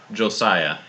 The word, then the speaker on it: Josiah: Josiah. How do you spell that?